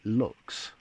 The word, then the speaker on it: LX: So it makes you want to say LX, but they want us to pronounce it Lux because they want it to describe the luxury end of their All-Star pen range.